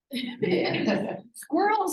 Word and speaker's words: squirrels: like two syllables yeah squirrels is a tricky word isn't it girls it's sort of a what do you call it a swirl it doesn't have two it's not quite a diphthong s squirrels soda but it's a smooth two-syllable right squirrels ran okay where